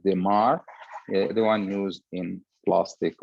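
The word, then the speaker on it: Desmarres: It's written DESMA-RRES, and it's pronunciated Demar, the one used in plastic or ophthalmic plastic surgery.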